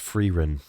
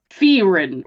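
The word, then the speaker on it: Frieren: ready go ahead Fein Beyond Journey's End it's pronounced ferin freen Beyond Journey free free Ren Beyond Journey's End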